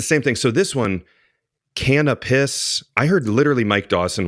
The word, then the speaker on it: Canopus: I just don't want to mess up the pronunciation. Here you go. Canopus drums are handmade drums. Canopus drums. Okay, so here's another one. Hi, I'm Harvey Mason, and I'm with Canopus Drums.